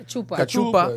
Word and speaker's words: cachupa: They gotta have some, what's that, how you pronounce it? Cachupa. Cachupa.